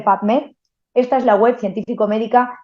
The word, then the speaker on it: PubMed: Tal cual se escribe PUB, publicaciones, las tres primeras letras de la palabra publicaciones, MED, médicas, las tres primeras letras de la palabra médicas, PubMed, se dice PubMed.